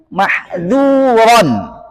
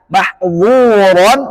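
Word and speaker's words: مَحْذُورًا: Mahzuron. Asa, sin punya sifat infitah. Nah, berarti bacanya asa. Mengapa harus dibaca murni sifat infitah dua kata ini mahzuron dan asa, agar bacaannya tidak menyerupai bacaan mahzuron dan aso.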